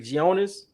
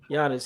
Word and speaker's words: Giannis: you say this guy's name The Greek Freak gionis how'd you say that yeah I'm sorry Giannis he took a nasty fall you know hurt